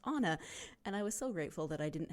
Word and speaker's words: Anna: And I was about to email Anna and say, do you pronounce your name like Anna from Frozen? When she emailed me and said, oh, and by the way, my name is pronounced Anna.